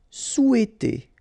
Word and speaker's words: souhaiter: désirer désirer vouloir vouloir souhaiter remember is not pronounced here so sou souhaiter souhaiter travailler pour travailler pour